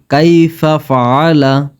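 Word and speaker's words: كَيْفَ فَعَلَ: কাইফা ফাআলা কাইফা ফাআলা এখানে ছোট কাফ আর এখানে যে আইন এটা গলার ভেতর থেকে উচ্চারণ হবে তাই কাইফা ফাআলা রব্বুকা রব্বুকা এখানে অনেকে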